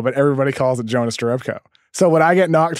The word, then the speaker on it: Jerebko: stir up co but everybody calls the Jonas Jerebko so what I get knocked for saying you know Jonas 1,000% for real yeah it's your up Co I like it stickler but to be fair